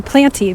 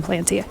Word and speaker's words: Planty: I mean, I think it's called the Planty. That's how I think you pronounce it. But it's spelled Planty, P-L-A-N-T-Y.